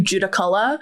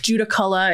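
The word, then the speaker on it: Judaculla: I definitely apologize it has definitely been anglicized into judicala uh which is where the location judical Iraq Juda color is the is more proper Cherokee pronunciation of this creature this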